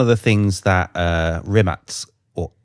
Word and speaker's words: Rimac: So this is one of the things that uh Rimatz or Rimac as most people would would think of it but correct pronunciation is remat and that was actually engineered so that you